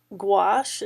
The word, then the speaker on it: gouache: Gouache is how you pronounce that word, but essentially it's a opaque watercolor medium.